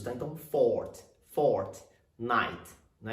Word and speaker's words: Fortnite: E a pronúncia dela a primeira palavra é tônica, então é fort, lembrando que os dois T são mudos, tá? Então, fort, night.